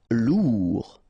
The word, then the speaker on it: lourd: a i n phetically lourd final day not pronounced honnête show final not